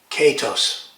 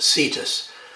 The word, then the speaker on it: cetus: In Greek it would be pronounced katos. But in Latinized versions, it's usually pronounced cetus. The C being soft, which is the way that the French pronounced the Latin C in medieval times.